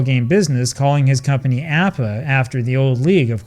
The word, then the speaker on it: APBA: Okay, we should stop here because I get comments all the time from people who want to know why I call it APA and not APba.